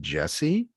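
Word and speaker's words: Djesse: I think this is pronounced Jesse, which is funny because it's spelled like gent.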